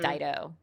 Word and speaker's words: Dido: going to go down with this ship, like Dido.